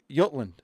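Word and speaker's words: Jutland: the island right there yoltland i think it's i think it's pronounced yutland okay but they violated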